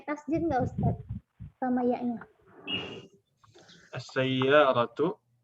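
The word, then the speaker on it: السيارة: As-sayyaratu yang pakai tasdid itu cuma 1 huruf ya. Yaitu iya. Ini yang asli. Sayyaratun. Aslinya kan sayyaratun. Tasdidnya yang asli itu cuma dia. Tapi kalau ditambahkan al, gimana jadinya? As-sayyaratu. Ini sinnya ditekankan, tambah tasdid karena al.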